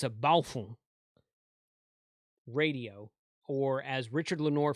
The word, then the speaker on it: Baofeng: boy don't do that okay but it's a balfour radio or as richard lenoir from main trading